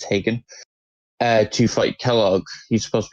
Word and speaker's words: Hagen: Starts at level 16, which the game puts you around 16 when you're going to Fort Hagen. I always say it wrong. I think it's Hagen.